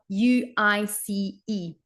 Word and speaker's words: sluice: So except that at the beginning it starts with Sluice. So this verb, sluice. So think about juice now. If you come across this verb again, now pronounce it correctly.